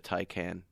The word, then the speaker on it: Taycan: Originally, Porsche was going to build 20,000 units of the Taycan. Is I even saying it right? Taycan, I thought it was Taycan.